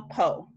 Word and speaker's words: Poe: so my name is oh no PO Wow and no relations to Edgar Allen my husband's family so they are like distant Edgar Allen Poe relatives that's literally the only other poet I